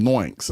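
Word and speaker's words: NoOinks: And okay, so I think he was saying noinks. I think that's what his point. He said that it's pronounced like boinks and noinks.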